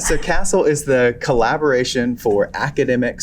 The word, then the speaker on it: CASEL: Yep, you said it right, CASEL. So CASEL is the Collaboration for Academic, Social, and Emotional Learning.